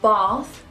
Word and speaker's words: bath: In certain words like bath, past and grass, we pronounce the A as an R. Like you're an opera singer. Ah! Or you're at the dentist.